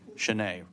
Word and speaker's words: Shanae: Shanae, right? Yep. Sorry. It's the double E got me there. I thought I messed that up. Normally I'll put the accent on the end.